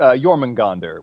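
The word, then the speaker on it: Jörmungandr: Uh, uh, it's it's Yorman Gandonder, which is spelled J O R M U N J G- A N D R.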